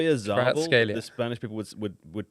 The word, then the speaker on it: Oyarzabal: Wait, what's he called? Oyarzabal. That's how my dad would pronounce Yeah, it. but the thing is, you've said it, and it makes it no easier to come back. You could just say Oyarzabal.